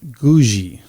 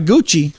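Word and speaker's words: Googie: an architecture style called Gouji. Gouji. I had to Google that just to make sure I said it right. Gushy? Gouji. Gouji. Gouji. Not Gucci. Not Gucci. It's Gouji.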